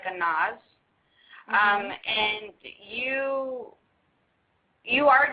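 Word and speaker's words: Anaz: It's a n a z. It's like a nause.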